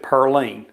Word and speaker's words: Pauline: Now, back in those days, they pronounced it Pearline.